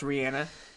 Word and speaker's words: Rihanna: work all right Rihanna yeah and it's announced Rihanna that's how you say it all right so